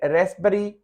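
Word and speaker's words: raspberry: और ये साइकी है, जो सोच होती है, पी इसमें साइलेंट है, फिर साइकी नहीं पढ़ेंगे, साइकी पढ़ेंगे। ये रेसबरी, जैसे मलबरी, रेसबरी, शहतूत होते हैं तो ये पी साइलेंट है।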